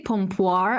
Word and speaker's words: pompoir: Pompor? So I say pompoir. I've heard people say pompor. Like there's so many different pronunciations of it.